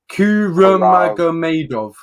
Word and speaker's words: Kuramagomedov: of him, and Ramzan Kuramagomedov. Yeah. Ooh, well, that was a good one. That's it's fairly easy to pronounce for me. It's Nurmagomedov with a K, but this guy is no joke.